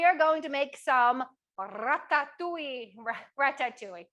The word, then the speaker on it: ratatouille: We are going to make some ratatouille. You don't have to roll your R's.